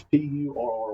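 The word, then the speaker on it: Pury: And, uh, this was Uncle Pur. Now, that's P U R Y, not P E R R Y. That's P U R R Y. That's Pur. That's how they say it in Kentucky.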